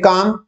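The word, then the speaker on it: calm: ये काम, सी एल एम काम, इसमें एल साइलेंट है, ये देख सकते हैं।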